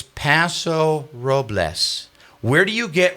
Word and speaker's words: Paso Robles: And this goes to a more of a regional thing, but it's Paso Robles. Where do you get robels out of r o bles?